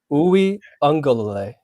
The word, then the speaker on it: Uiagalelei: Give us a pronunciation guide. Break it down for us. Uiagalelei.